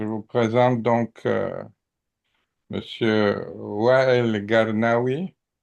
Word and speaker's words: Garnaoui: Bon, alors voilà, je vous présente donc Monsieur Wael Garnaoui. C'est comme ça que ça se prononce, Garnaoui? Oui, c'est ça. Oui, El Garnewi. El Garnaoui aussi, El Garnewi, ouais.